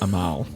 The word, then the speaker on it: Amal: It's pronounced Amal.